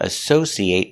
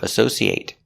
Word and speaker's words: associate: Again, I don't associate with criminals. I don't have a relationship with them. That's a verb. Associate. Now, what if it's not a verb? Associate. It making that short sound at the end.